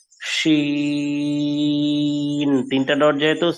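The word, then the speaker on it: شين: হ্যাঁ, she sound হবে, শীত, বাংলাদেশ শীত বলে শীত, সেই শি সাউন্ড হবে। অথবা হি অর she, female gender বোঝাতে গেলে আমরা যে প্রোনাউন বলি কি শি বলি, শি, সেই শি এর মতো সাউন্ড হবে শি। অথবা আমরা শিপ বলি, শিপ, ফ্রেন্ডশিপ অথবা শিপ, সেই শিপের শি এর সাউন্ডের মতো হবে শিন, শিন।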